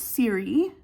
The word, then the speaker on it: Siri: So I guess I'll just like my name is Siri. Like my channel's name is Siri. That's how it's pronounced if anybody's like curious. It's pronounced like the iPhone.